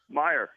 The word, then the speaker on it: Mirer: had it right so can you pronounce your own last name for us Meer so so okay so Paulie has a problem with the r in the middle not being pronounced WR Rick's wrong it's Myer I don't Rick I don't know how you're brought up buddy it's screwed up I know but it's just the fact is it's Myer